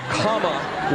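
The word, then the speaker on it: Kamala: you president ca ca her name is pronounced comma like the punctuation mark look shut UPA so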